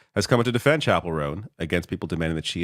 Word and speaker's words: Chappell Roan: So is it Chappell Roan? Is that what that is? Yeah. Okay. Like a church chapel. Okay, so Chappell Roan.